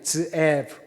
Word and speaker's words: 드에브: 그리고 한글 성경에는 스에브라고 되어 있는데 히브리 발음은 드에브입니다. 드에브.